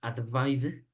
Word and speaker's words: advise: Now, the verb is pronounced advise como con Z.